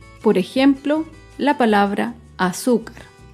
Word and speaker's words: azúcar: Por ejemplo, la palabra azúcar. Azúcar es una palabra grave y se acentúa en la penúltima sílaba.